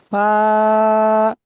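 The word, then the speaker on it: ف: Wine, ফা। জিভের এই উপরের দাঁতের আগার নিচের ঠোঁটের ভিজা অংশ সাথে লেগে এটা উচ্চারণ হবে, ফাটা, ফা।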